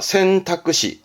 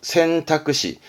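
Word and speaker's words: 選択肢: 그래서 여러분 뭘까요 선택지죠 선택지도 이렇습니다 센타쿠시 센타끄시 선택지의 질을 써봐라 그러면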